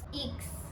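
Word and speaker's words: ixe: टू the third last letter which is x which is इक्स इक्स इक्स in French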